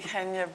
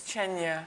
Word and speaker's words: Chenia: It should be Chenia, but it's Chenia.